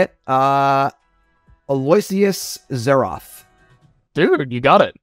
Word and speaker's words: Aloysius: the fundamentals from I'm gonna say it uh Aloysius zeroth dude you got it spot on oh yeah I'm a winner all right some people will pronounce it like elocious and it's like no you got it spot